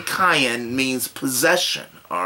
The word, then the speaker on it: Cain: name contains a name and Aramaic is not cane its cayenne it's pronounced cayenne and a spell phonetically ka H